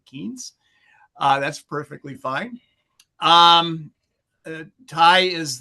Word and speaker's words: Keynes: So his last name is the same as Lord Keynes, the creator of macroeconomics, but he pronounces it Keynes.